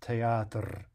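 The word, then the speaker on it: театр: a very strict fashion, we would indeed say that teatr is only two syllables. But if we listen closely to how it's normally said, we really hear something like more like three syllables, teatr, right? It's not simply teatr, teatr, right, which would be closer to a truly two-syllable word.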